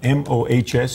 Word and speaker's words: Mohs: things like that, what about this surgery called MOHS? Is it Mohs? Is that the correct pronounce?